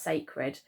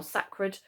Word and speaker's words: sacred: the IDI and we actually say that as sacred okay so it looks a bit like succored or sacra um but we actually pronounce it as sacred and that does just